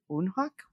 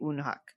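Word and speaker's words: Woonhak: Unhawk. Wonhawk. TBD on the pronunciation, but I think they say unhuck.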